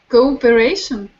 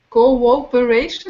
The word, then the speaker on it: cooperation: Focus on the W. Cooperation. The W comes between the two O's. Cooperation.